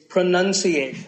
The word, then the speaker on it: pronunciation: Well, we say pronounce, pronounced, and pronouncing, but pronunciation. There's no noun in this word. It's pronunciation.